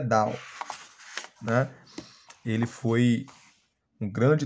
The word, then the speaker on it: Dunn: teologia Paulina tão o James Down se escreve da mas a pronúncia Down na ele foi um